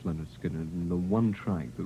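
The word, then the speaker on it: Lynyrd Skynyrd: of the rock jocks, was your first album, pronounced Leonard Skinner, and the one track that really stood out as far as airplay was concerned was Freebird.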